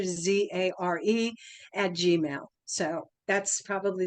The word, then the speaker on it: Zare: And the spelling of Zare, remember it rhymes with care, Zare, at Gmail.